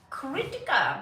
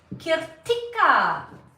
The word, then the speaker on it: Kirtika: I seriously thought it was Kritika, but it's Kirtika.